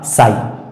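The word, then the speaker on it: sigh: जी H silent है उसी तरह से एस आई जी एच शब्द के अंत में जी एच आया है इसमें भी जी एच का उच्चारण नहीं होगा साइलेंट होगा और इसका सही उच्चारण हो जाएगा साई साई उसी तरह से टी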